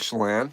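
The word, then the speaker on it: Chelan: I'm going to pronounce it wrong. Shayen Shalon in Washington. Oh, Lake Chalan. Chalan.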